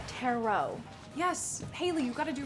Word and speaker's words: tarot: Paxton, it's pronounced tarot.